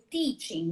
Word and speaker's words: teaching: Por exemplo, teaching, né? Que a gente fala com T. T de tia, como se fala no Nordeste. E não de ti, como TCH.